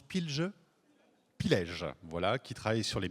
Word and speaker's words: Pilège: Alors, on prononce Pilge. Pilège, voilà, qui travaille sur les microbiotes, donc la micronutrition et la phytothérapie.